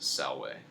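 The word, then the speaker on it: salve: latin sounds is that v's are pronounced as w's okay so like the way you greet someone by saying the word the it's spelled s-a-l-v-e but you'd pronounce it salway instead of uh but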